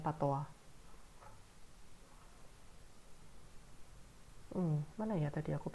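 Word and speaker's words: patois: di buku pat pat Pata itu sebenarnya ini ya dari bahasa Perancis makanya bacanya Pata Hm mana ya tadi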